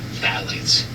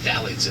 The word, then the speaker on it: phthalates: And then the most important one I would say that everyone should know is called phthalates. Phthalates. Phthalates. It's spelled with a PH.